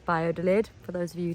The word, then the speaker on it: Valladolid: it's spelled via lid with a v but pronounced bio de lid for those of you who didn't know that